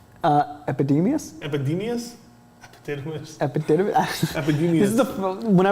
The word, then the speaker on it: Epidemius: Epididymis? Epidemius? Epidemius? Epididymis? Epidemius.